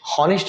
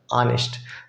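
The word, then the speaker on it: honest: क्योंकि ईमानदार है, ईमानदार आप उसके हिसाब से ऑनेस्ट, हॉनेस्ट नहीं पढ़ते हम, ऑनेस्ट, ऑनेस्ट प्रोनाउंसिएशन अ वाला एन, सिंपल।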